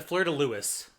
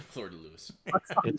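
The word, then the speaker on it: fleur-de-lis: it's right see yeah this exact it's the Florida Lewis that's how you pronounce it the Florida Lewis French Louie first of all yes also Louie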